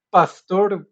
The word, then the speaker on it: Pasteur: la química fue gracias al enfoque experimental luís pastor así se pronuncia pero ahí le agradezco a los apuntadores